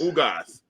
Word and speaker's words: Ugas: I can't pronounce his name. Ugos. What's the name of that, Derek? Yordanis Ugas. Ugas.